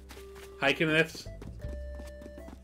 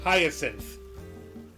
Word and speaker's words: hyacinth: Nin is saying it's pronounced hyacinth.